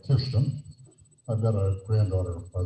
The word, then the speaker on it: Kirsten: Well, I'm interested in this leadership business, and you know, Sammy and Kirsten, that's how you pronounce it in Norway, Kirsten.